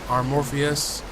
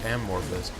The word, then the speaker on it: Amorpheus: This one's called Runner by Amorpheus. I've always said that name wrong too. I always said Amorphous, but it's called Runner, and it's raining, and it's sort of a blue-tinted, darkish city.